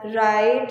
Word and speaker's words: write: will be discussing as right, and you can say rapper. Yeah, the rapper. Before R in the any word starting of the word W is silent.